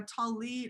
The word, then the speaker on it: tallit: me please yes so a tallit or a tallis there's different ways of pronouncing it is an english a